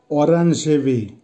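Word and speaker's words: оранжевый: জলতি, জলতির অর্থ হবে হলুদ, উচ্চারণ হবে জলতি, জলতি। আবারও বলছি জলতি। অরেঞ্জেবি, অরেঞ্জেবির অর্থ হবে কমলা বা কমলা কালার, উচ্চারণ হবে অরেঞ্জেবি।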